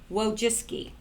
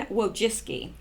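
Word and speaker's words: Wojcicki: I went out and I actually listened to her pronounce it and then I put this in brackets for me so I won't forget whoa jiske and whoa jiske and she is the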